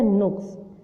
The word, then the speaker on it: نقص: ساتھ پڑھیں۔ پہلا کیا، نقص۔ نقص میں آپ نے کیا کرنا ہے، نون کے اوپر پیش، کاف کے اوپر جزم، صاد کے اوپر جزم، نقص۔ اب ہے خلیفہ، خلیفہ،